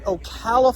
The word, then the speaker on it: Ocala: Wow, we're coming out here from the 2025 RV show in Ocala, Florida.